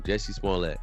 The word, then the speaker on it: Jussie Smollett: That's his name, Jussie Smollett, right?